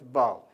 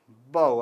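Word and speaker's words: boughs: from the text to find out so b-o-u-s bow bow how do you pronounce b you just bow does you pronounce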